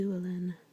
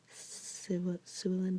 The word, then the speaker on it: Llewellyn: Unfortunately, I don't speak Welsh, so I can't pronounce that first L right there. It has kind of a harsh S sound, like Llewellyn, but I can't say it. Anyways, it's not a L sound.